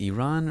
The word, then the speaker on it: Iran: And actually, by the way, do I pronounce it Iran? That's correct.